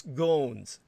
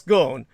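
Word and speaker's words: Ghosn: the twah the two Americans who masterminded Carlos gones Escape are now in Japanese custody where they belong gon's surname is spelled g o SN he's well the French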